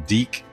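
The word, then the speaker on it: DiC: So he wasn't in the original series, but when Deke took over the series, yes, Deke, that's the way it's pronounced, he was in there.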